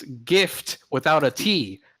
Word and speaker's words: GIF: Jeff is J but my reasoning is still gift without a T therefore it's gif all right to me